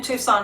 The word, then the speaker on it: Tucson: Oh, the sea is silent in Tucson.